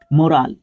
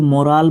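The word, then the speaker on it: morale: हिसाब से तरीके से मोराल मोराल होता है मन मनोबल ठीक है ओके नाउन के रूप में यूज़ इसको मोराल बोलते हैं मोरल नहीं बोलते मोराल बोलते हैं इसको है।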